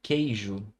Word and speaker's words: queijo: A palavra queijo. Olha só. Por mais que eu tenha a letra U aqui, o som dela não aparece nessa sílaba.